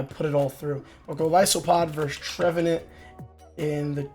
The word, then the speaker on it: Golisopod: But Golisopod versus Trevenant in the 2 shield with Fury Cutter over Waterfall, and we still lose that.